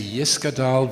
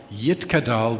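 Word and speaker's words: Yitgadal: We'd say Yiskadal v'Yiskadash Shemerabah. Post-67, we say Yitkadal v'Yitkadash. We use Sephardic pronunciation, not Ashkenazic pronunciation.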